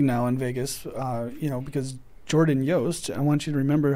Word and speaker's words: Yost: Because Jordan Yost. I want you to remember how to pronounce that.